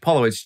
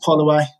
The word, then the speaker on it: Pollowitz: today, we've got Josh Pollowitz. Josh, did I say your last name correctly? No, it's pronounced Polloway. So it's a Ukrainian name. So like Holloway, but with a P.